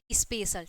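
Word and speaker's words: special: पर क्या हुआ है कि जो उसका प्रोनाउंस होगा वह क्या हो जाएगा बड़ा सा हो जाएगा तो उसके अकॉर्डिंग क्या हो गया आपका स्पेशल ठीक है यहां पर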